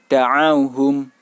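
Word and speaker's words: دَعَوْهُمْ: bukan di akhir ayat, maka cara membacanya dibaca pendek seperti biasa. Da'auhum. Da'auhum. Jadi tidak dibaca panjang. Da'auhum. Tidak dibaca demikian. Melainkan cukup dibaca pendek.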